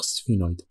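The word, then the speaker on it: sphenoid: سفينويد، ذكروا سفينه، سفينويد بون، شيء نطقها بس هي تنطق سفينويد.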